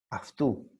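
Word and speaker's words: αυτού: Aftu, aftu, otra vez. A, F, A, F, T y la U. Así debes pronunciar porque existen dos diptongos.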